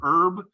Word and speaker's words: herb: How do you pronounce herb? Do you pronounce it with the H or without? That's an age-old question. Certainly if you talk to somebody who speaks American English, we typically don't use the H.